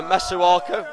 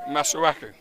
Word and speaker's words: Masuaku: Uh, Masuaka. Have I pronounced that right? Masuaku.